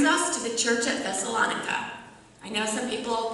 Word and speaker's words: Thessalonica: I know some people pronounce it Thessalonica, but in Greek it would be Thessaloniki, and just for the purpose of clarification, I will pronounce it in the American way, Thessalonica.